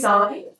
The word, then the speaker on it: sine: Now, when you use sine, And we do pronounce it sine because the full word is spelled S-I-N-E.